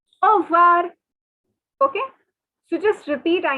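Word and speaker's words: au revoir: listen carefully it is over over okay now see the word that you can see is but the thing is these french people say it so quickly that all we can hear is over okay so just repeat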